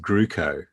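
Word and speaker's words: Groocock: before she got married her surname was g-r-o-o-c-o-c-k now how would you pronounce that yeah or grow a oh yeah yeah but apparently it's pronounced gruco you know you're not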